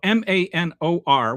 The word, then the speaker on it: Manor: So M-A-N-O-R, which the rest of the civilized world calls manor, in Texas, it is pronounced Manor.